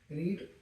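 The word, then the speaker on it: read: have been ठीक है रीड been been ठीक है मेन वर्ब क्या है पढ़ी पढ़ना तो इसकी थर्ड फॉर्म क्या है रीड रीड की थर्ड फॉर्म स्पेलिंग सेम है क्या पढ़ेंगे इसे रेड और क्या बचा सुबह से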